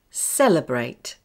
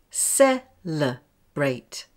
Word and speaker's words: celebrate: Now for some three-syllable words. Celebrate. Celebrate. Count the syllables. Celebrate. Now, where is the schwa sound? Well, it's on the second syllable.